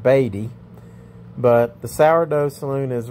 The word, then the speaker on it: Beatty: the sourdough saloon in bd nevada so we're gonna go in and check this place out okay as i'm enjoying my banquet beer i realized from the locals that it's pronounced baby but the sourdough saloon